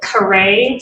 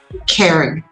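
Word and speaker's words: Caree: V E A Z E Y and Kare. C A R E E. McQueen. Um Karen. Kare. It's pronounced kare, but it's c a r e.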